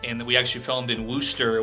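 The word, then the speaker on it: Worcester: we actually filmed in Wooster which is like War Chester spelled like that in Massachusetts so we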